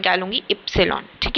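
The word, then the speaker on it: Ypsilon: ऐसे इस लेटर को हम इप्सिलॉन लिखते हैं। ठीक है? मतलब इस लेटर का मेरे को नाम लेना है तो मैं क्या लूंगी? इप्सिलॉन।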